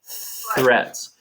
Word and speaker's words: threats: the the th threats threats so again if you have a piece of paper and you're making the th sound correctly the the the air